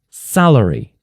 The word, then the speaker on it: salary: The stress mark is before the first syllable, so you underline sa, like this, salary.